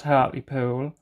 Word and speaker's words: Hartlepool: regarded as Hartley pudlians and don't pronounce the letter H and hurt me pool well people are awake Within Me friends and that don't pronounce the the H but I always do um yes and if